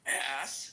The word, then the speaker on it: ask: For all of those people who have a little difficulties in their pronunciation, say the word ass. Then say the K sound. Ask.